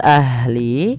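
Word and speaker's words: أهل: Pada lafal ahli, alirkan nafasnya ahli dan jangan sampai memantul dalam lafal huruf ha.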